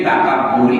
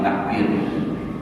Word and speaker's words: takabur: Yang tadi bin takbir tadi adalah lo malam yang tahi ilal idai bin takaburi bukan bin takbir. Bin takaburi dibacanya dengan takabur dan selama tiada sampai